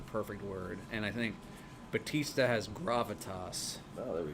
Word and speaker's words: Bautista: I think Dave Bautista has arguably Well, that's the right way to say it.